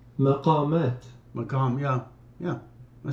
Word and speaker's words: maqam: You can also hear how they're set, you can also pronunciation. Maqam. Maqamat.